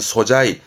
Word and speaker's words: 素材: 모든 재료의 바탕이 되어지는 소재의 발음은 소자이.